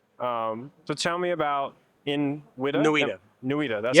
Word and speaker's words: NWIDA: NWIDA, that's how we pronounce it.